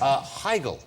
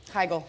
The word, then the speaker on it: Heigl: Katherine Heigl.